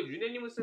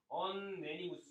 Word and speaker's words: unanimous: 이거 유네니무스 했을 때 이거를 유엔자를 언자라 읽기 때문에 언네니무스 이렇게 읽으면 안 되냐는데 이거 유넨이라고 읽으셔야 돼요. 유넨이. 유네니무스라고 읽으셔야 돼.